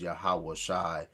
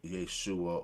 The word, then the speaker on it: Yahawashi: and Uclass vows again that's why we would say the name of the son of God is Yahawashi um as opposed to Yeshua or Yahusha.